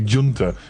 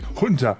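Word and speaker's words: junta: Because they can't pron they don't pronounce the J sound. The pron don't like it's you know military junter. It's actually Hunter, isn't it?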